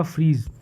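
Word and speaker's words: Phryge: द फ्रीज।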